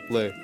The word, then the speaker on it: Le: Brian Le or Lee? Brian Le. Le. I got to say Le cuz that's how you say it in the language.